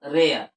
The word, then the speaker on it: rare: और, यहाँ रे और, रे और, देखिए तो रेयर, ऐसा नहीं लिखते, रे और लिखते हैं, यहाँ